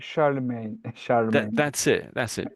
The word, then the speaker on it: Charlemagne: So, it's Charlemagne. Charm. That's it. That's it. Spot on. Charlemagne. That's it. Charlemagne. It's It's not obviously that. If you looked at it, you Oh my goodness. Looks like Charles Magny.